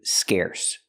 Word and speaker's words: scarce: Now, let's talk about this adjective scarce. Pronunciation, use the air sound like hair and chair.